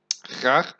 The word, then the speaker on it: graag: Graag may seem like a weird word, but it's just to make it more polite.